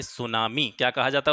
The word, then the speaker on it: सुनामी: एम ए एन आई सुनामी T silent रहता है इसमें तो सुनामी इसको कहा जाता है सुनामी जापानी भाषा का शब्द है यह भी